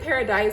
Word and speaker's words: Paradis: The color is blue it's spelled like paradise, but without the E. So I think it's like blue paradis or blue paradise. I'm not sure. I feel like it's like a French pronunciation of paradise, blue paradise.